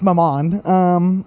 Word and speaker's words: maman: Well, it rhymes with my mom. It's maman.